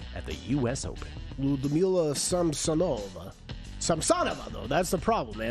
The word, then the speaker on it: Samsonova: Ludmila Samsonova, though. That's the problem, man. I used to pronounce it Samsonova, too. Well, of course. Of course you would. She's putting on the wrong emphasis on the wrong syllable.